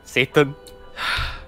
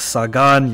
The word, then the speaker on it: Sagan: Excuse me, how do you pronounce her last name? Sagan? Satan. It's Sagan, you stupid American voice actors.